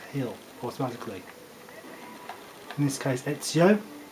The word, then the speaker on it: Ezio: the characters will not heal automatically this case ezio spelled easy io but this is pronounced like you he's from italy another ancestor